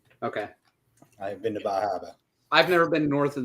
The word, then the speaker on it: Bar Harbor: real question from Maine himself where in Maine Bar Harbor I'm sorry Baba yeah right was like hold on you didn't